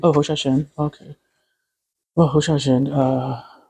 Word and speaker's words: Hsiao-Hsien: Sorry, my pronunciation. And do you have like an anecdote to share about With working with Sylvia. Wu Xiaoxian? Oh, Hsiao-Hsien.